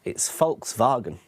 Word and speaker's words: Volkswagen: Okay, it's Volkswagen. Volkswagen. Volkswagen. Yeah, another one people mispronounce.